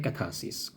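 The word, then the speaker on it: catharsis: second है कथा सस कथा सस लिखा जाता है य कैथार्सिस बस पढ़ा जाता है कथा सस आर साइलेंट है यह भी लिटरेचर का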